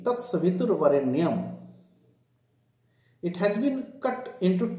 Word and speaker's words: Tat Savitur Varenyam: Here, for the sake of rhythm, the correct pronunciation should be Tat Savitur Varenyam.